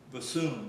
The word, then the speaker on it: bassoon: Bassoon. Okay, like a baboon, Bethune. Spell it, say it again. Say it. Bassoon.